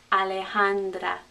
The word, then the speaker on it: Alejandra: the official sounds alejandra i don't want to hear any schwas on these a's they have to say ah alejandra alejandra alejandra okay you try it